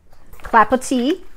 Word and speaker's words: Clapotis: Clap, pot, tis. Clapotis is how you pronounce it.